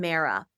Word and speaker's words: Mara: There's one of a woman named Mara and rhymes with Sarah and she had moved